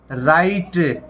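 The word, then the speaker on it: write: तो जैसे आपने पकाया राइट राइट यहां डब्लू साइलेंट है राइट मतलब लिखना है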